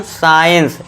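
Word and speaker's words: science: यदि ई और आई से पहले ये थोड़ा ध्यान देना है। और एस के बाद सी हो तो सी साइलेंट होगा। ठीक है दोस्तों? तो चलिए अब हम एग्जांपल देखते हैं। पहला है देखिए एस सी आई ई एन सी ई इसे क्या पढ़ते हैं हम? साइंस।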